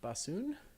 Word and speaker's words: bosun: so is there someone on the boat named bassoon or I mean I guess yeah where's bassoon it's pronounced away listen okay this I have admitted